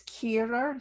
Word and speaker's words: Kehrer: I have difficulty pronouncing it. It's Kehrer, so Kehrer.